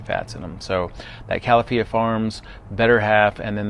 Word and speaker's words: Califia: Now, Better Half is by a company called Kafia, I think that's how you say it, Kafia Farms. And they've got a couple of different options. Califia Farms, sorry.